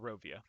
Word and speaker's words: Barovia: Barovia. Okay, sorry, thanks. said it wrong. Barovia.